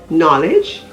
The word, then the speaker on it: knowledge: words like nak k-n-a-c-k knee k-n-e-e knife k-n-i-f-e knowledge k-n-o-w e and knob k n o b